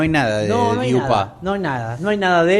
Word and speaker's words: Dupin: Con el personaje que yo llamo el personaje de Poe, que es el investigador, yo lo llamo Dupont, pero me acabo de enterar que no es así. No, es Dupin.